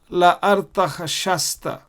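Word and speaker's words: ארתחשסתא: dot on the left, they have replaced it with a samek, which is pronounced sa. So la artach shasta. La artach shasta. That is how you pronounce it.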